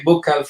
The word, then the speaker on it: buccal: Some people say, I say buccal fat removal. Some people call it buccal fat removal. Either one.